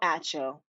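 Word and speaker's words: Acho: out how to say it hold on Emmanuel ATO got it okay anyway I really really liked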